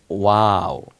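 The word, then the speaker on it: و: এরপরে হলো এই যে দেখতে অনেকটা ইংলিশে নাইনের মতো না, এটাকে বলে ওয়াও। ওয়াও, আমার সাথে বলো ওয়াও। মুখটা ঠোঁট দুইটা গোল হয়ে আসবে, ওয়াও, তাহলে উচ্চারণটা সুন্দর হবে, ওয়াও।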